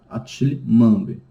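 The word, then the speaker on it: Achille Mbembe: E a outra obra, né, do Attila Mambe, eu vi como se pronuncia o nome, tá? É Attila Mambe, tá?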